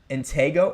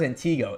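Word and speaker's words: Antigo: Antgo. Oh, it's Antgo. I never knew that. I always thought it was Antiggo.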